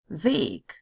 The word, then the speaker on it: Weg: It's long if it is followed by a single consonant that would belong to the next syllable if separated. Weg.